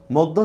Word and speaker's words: মধ্য: ওহ, মধ্য শব্দের উচ্চারণটা লেখেন তো যারা আছেন। কেউ আছেন কি? মধ্য, রাইট, এই তো হচ্ছে, গুড। মধ্য শব্দের উচ্চারণটা হচ্ছে কি ময় ওকার, দ হসন্ত, ধ ওকার। ঠিক আছে?